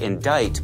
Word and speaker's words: indict: We pronounce it indict because its original spelling in English was E-N-D-I-T-E, a spelling that was